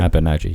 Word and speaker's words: Abu Naji: Abu Naji, yeah.